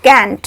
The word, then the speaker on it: can't: अब देखते हैं यूजेस ऑफ कैंट। कैंट यानी कैनॉट, और इस कैंट को कांट भी बोलते हैं और कैंट भी बोलते हैं, दोनों ही प्रोनाउंसिएशन सही है।